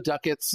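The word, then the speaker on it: Ducats: and the 50,000 credits I know the duckets is the way to pronounce it because he says duckets and I'm just gonna roll with it if he mispronounces it then I mispronounce it that's whatever the blueprint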